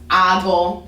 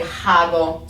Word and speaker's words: hago: um you know if i want to say this word it's ago okay i don't say hago so it's just silent at the beginning of the words and that's usually where